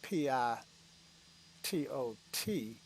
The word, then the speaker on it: pitot: P I T okay but you're right it's p i-- t OT and but it's pronounced topito french and that's my lesson today